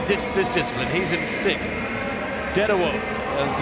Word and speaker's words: Dedewo: Dedewo, as it's pronounced, Paul Dedewo of the USA in five.